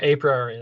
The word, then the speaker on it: a priori: we just use the market balance basket analysis a priori yep said that again what was that a pr am i pronouncing it right yeah a priori that's right yeah it's a market basket analysis